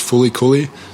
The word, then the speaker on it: FLCL: you ever see that it's spelled flcl but it's pronounced fully some